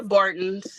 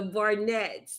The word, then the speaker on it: Barnett: started when she got to the Barton the so the Barton had other children they had some other boys huh what' you say the Barnett oh why you didn't B tell me I was say it wrong I have I did